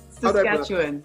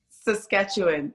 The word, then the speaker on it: Saskatchewan: How do I pronounce that? Yes, Saskatchewan. That's how I would say it. Everyone's one more time. Could you please repeat it again? Saskatchewan.